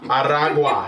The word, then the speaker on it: Aragua: According to his inaugural address, Central American MS-13 and Venezuelan gang tren Aragua Aragua, you got to roll your Rs.